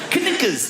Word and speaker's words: knickers: Why would a K be silent? Knickers. Why is it knickers?